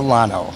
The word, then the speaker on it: Lonow: the improv and my guest today is Claudia la no that's good yes the pronunciation right you should I've had plenty of